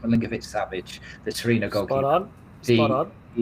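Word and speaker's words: Milinković-Savić: As for, and I can never pronounce his surname, I think it's Milinkovic-Savic, the Torino goalkeeper.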